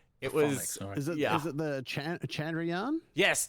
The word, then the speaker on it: Chandrayaan: It was is it the Chandrayaan? Yes, Chandrayaan 3.